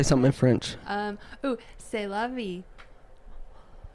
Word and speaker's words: C'est la vie: C'est la vie. Ça la vie. C'est la vie. It's spelled like C apostrophe ST Oh.